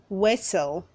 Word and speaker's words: whistle: Say whistle, don't say whistle. The T is silent.